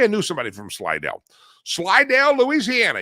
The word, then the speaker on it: Slidell: Slided, Louisiana. You got to say it like that, too. You just can't say Slidell. You say Slide, Louisiana.